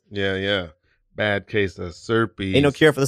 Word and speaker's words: Serpes: at bad case of serpes uh cuz when your last name rhymes with an STI you just got to roll with it uh health class wasn't